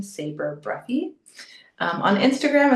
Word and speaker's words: Sabre: Um, on Instagram, it's actually Saber in Paris right now, but depending on when you listen to this, I might be in another part of Europe. But Saber, s a brie, spelled like the sword.